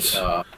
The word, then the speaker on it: Dietz: Detz's letter, and you Dr. indicated, Dietz.